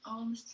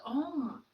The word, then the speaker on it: Om: So Om it's spelled O-M, but the sound is A-U-M. So it starts way down and kind of rises up through the energy centers.